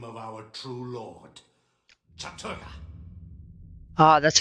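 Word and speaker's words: Chattur'gha: After we have broken your frail body and mind in the name of our true lord, Chaturga. Ah, that's how you pronounce it. Chaturga.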